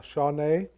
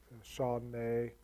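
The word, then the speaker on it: שָׁנָה: the hebrew word is uh shawnee i think it's pretty i'm probably not pronouncing that completely right but it's like sean nay and it's always translated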